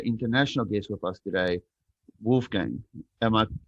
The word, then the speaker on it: Wolfgang: I've got an international guest with us today, Wolfgang. Am I saying it correctly, my friend? Yes, perfectly. Wolfgang.